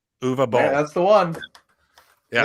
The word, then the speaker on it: Uwe Boll: So, Joe, help me out with the pronunciation of this director's name here. Uwe Boll. Uwe Boll.